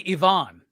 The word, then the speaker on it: Ivan: And apparently Yvonne, by the way. Oh, is it not even? Are you serious? I think it's Yvonne Reese, but yeah, I don't know. I think God it's bless Oh Yvonne. wow, I would have got it completely wrong. Or at least in I a learned retailer so call, much. Tom Taylor was calling him Yvonne.